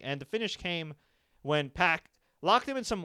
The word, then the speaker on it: PAC: card in my opinion pack not puck apparently I've been pronouncing it wrong puck it again PAC